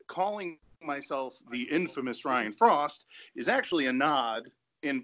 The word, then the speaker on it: Fraust: Frost, before I go any further, is it Frost? Is it Fraust? Because it could be pronounced either way. How are we doing this? So it's Frost. It's German.